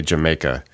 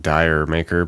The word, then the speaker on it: D'yer Mak'er: Zeppelin and this song the pronunciation is basically how a cockney person would say Jamaica so just say Jamaica I always thought it was like Dyer maker but whatever funky title